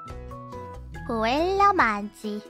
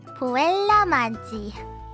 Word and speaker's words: Puella Magi: Let me Google this. Puella Magi. That's what it says. Puella Magi. Ah! That's how it said.